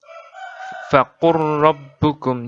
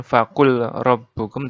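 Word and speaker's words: فَقُلْ رَبُّكُمْ: Di Al-An'am 147, faqur rabbukum. Jadi bukan faqul rabbukum, tapi faqur rabbukum.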